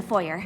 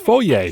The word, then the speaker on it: foyer: work with the animals right here in the foyer. No, Starlight. If you want to work with either Rarity or Fluttershy, it has to be pronounced foyer.